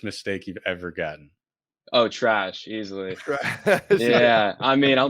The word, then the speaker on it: Treash: asked this before we started recording it is trish correct it's actually trash but honestly i don't know it's like that's